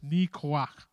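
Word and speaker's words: ניחוח: I'll just pronounce it for you. It's Nikoach.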